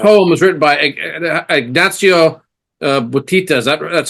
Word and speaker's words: Ignazio Buttitta: poem was written by Ignazio Butita. Is that's how to pronounce his name? That's right here. This book. Ignazio Buttitta, yes, Now, he's a now man.